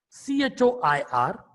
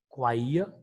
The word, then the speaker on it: choir: C-H-O-I-R, choir. And you have the third word, C-H-E-E-S-E, cheese. How do you pronounce it now? All are starting with C-H, the spelling C-H.